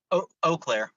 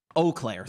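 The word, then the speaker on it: Eau Claire: Alair, I'm pronouncing that right. Right. Oclair. Oakclair. Thank you, Kabuchi.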